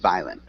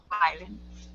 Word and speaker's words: violent: words have power at violent uh we don't really pronounce that o so it's just violent violent yeah violent good um